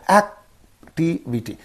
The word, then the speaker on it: activity: And what will be the syllable preceding the suffix means only this one. So we have to say activity. Activity. You have to say activity. Don't say activity.